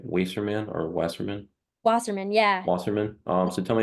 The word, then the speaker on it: Wasserman: The next, you also were a brand and properties intern for, see if I pronounce it right, Wasserman or Wasserman? Wasserman, yeah.